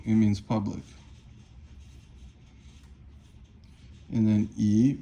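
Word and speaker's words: 以: And then yi means third tone, it means so you can do something.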